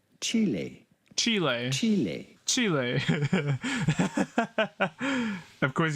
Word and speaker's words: Chile: of the country Chile in Spanish this is pronounced Chile Chile Chile Chile of course he's playing octus